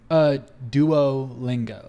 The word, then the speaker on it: Duolingo: Is it Duolingo or Duolingo? Duolingo. Like a band, like a duo. Yeah, Duolingo.